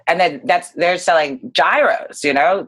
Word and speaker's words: gyro: new york experience if it's not a gyro with that hard g i know let me